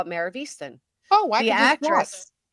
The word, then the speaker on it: Easttown: Easton. Well, they spell it Mayor of Easttown, but we pronounce it as Mayor of Easton.